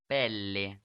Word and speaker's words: Pelle: Pele, or how do you pronounce that? Pelle.